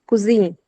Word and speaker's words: cuisine: how we can pronounce in French is cuisine. It's cuisine, the same way we pronounce in English.